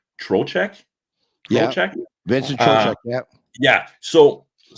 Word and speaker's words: Trocheck: is from the Rangers with, it's hard to pronounce his name, Trocheck?